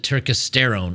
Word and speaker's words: turkesterone: do you spell it apparently you pronounce it turkesterone I pronounce it turkesterone I'm an idiot but what else is